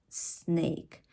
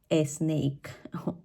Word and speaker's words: snake: difficult to understand because if we take the word in English snake snake the way that we usually pronounce it is a snake why because we are